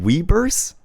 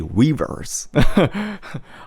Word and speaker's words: Weverse: Even Weverse, you have to know how they pronounce it in Korean. As in, they say it like this. Weverse. Weverse. We don't say Weverse. Unless maybe you're Felix.